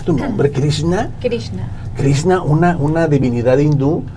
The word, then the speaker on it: Krishna: con nuestra amiga eh la doctora Cómo se pronuncia tu nombre krishna krishna krishna una una divinidad hindú del Amor y